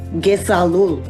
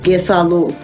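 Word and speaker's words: kesalul: which in Mi'kmaq means Gesalul. It's all one sound, Gesalul. In English, it means I love you. And the pronunciation is Ge-Sal-Ul.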